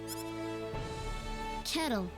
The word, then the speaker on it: Kettle: Kettle. Okay, so it is pronounced like kettle, like and my pot and name's kettle.